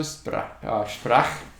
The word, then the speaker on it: Sprach: So the SP at the beginning of a word means the S sounds like SH, Sprach, and then Za, the Z has that S, Zarathustra. Okay. Also Sprach.